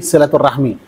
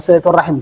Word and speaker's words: silaturahim: yang mengucapkan itu siapa kalau yang mengucapkan itu orang Indonesia berarti silaturahmi Kenapa karena dia tahunya gitu ada kasrahnya berarti kasrah harus di diucapkan tapi kalau orang Arab itu biasa silaturahim Kenapa karena tahu bahasa Arabnya itu Kalau berhenti di akhir harus mati Berti kalimat terakhir ketika berhenti harakahnya di matikan berarti jadi apa silaturahim